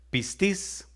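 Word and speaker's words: πίστις: Fíjese, la fe, que viene del griego 4102, que se pronuncia pistis.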